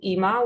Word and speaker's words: Ima: So this piece is called Ima, which is the way you pronounce mommy in Hebrew.